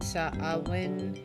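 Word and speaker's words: Samhain: it in a skull Sam is sort of the Irish version of Halloween saen is how it's pronounced interesting I just know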